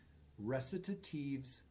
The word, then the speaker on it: recitative: In Baroque operas, there are only two kinds of singing: recitatives and arias. Note how we pronounce those words: recitative, aria.